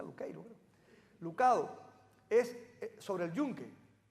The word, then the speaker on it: Lucado: Uno de los libros que me gusta, y lo digo muy a menudo, de Max Lucado, yo le digo Lucado, pero como en inglés se pronuncia Luqueiro.